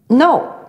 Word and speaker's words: know: 比方说念到这个 know，认识知道 K-N-O-W 这个字